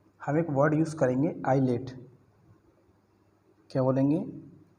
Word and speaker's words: ILATE: तो कुछ इन्फॉर्मेशन देखते हैं हम एक वर्ड यूज़ करेंगे आईलेट। क्या बोलेंगे? आईलेट, ठीक है। क्या स्पेलिंग है?